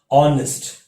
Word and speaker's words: honest: a consonant no here the h is silent here again you will say pronounce it as honest that is a sound